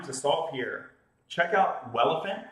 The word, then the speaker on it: Welephant: Check out Welephant, that's spelled like elephant with a W, on GitHub.